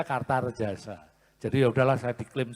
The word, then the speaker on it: Kartaredjasa: pantes-pantesnya tambahi so kartarjasa karena so tulisannya a bacanya kartarjasa jadi ya sudahlah saya